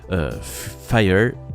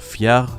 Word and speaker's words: Phiar: un petit peu de Fire de son nom anglais ou P H I A R Fiar si on le prononce à la française.